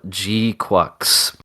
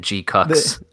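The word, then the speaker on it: GQuuuuuX: I've just been calling it G Cucks. Just also It was nice that in the show they literally like, how do you say that? Yep. Like, I think it's G-Quacks.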